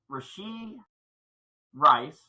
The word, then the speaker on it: Rashee Rice: Specifically talking about Rashee Rice. Did I say it right? Rashee Rice.